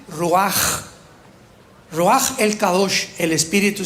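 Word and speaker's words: רוח: palabra espíritu en hebreo es ruach con r de Raúl y ch se pronuncia ruaj raj el kados el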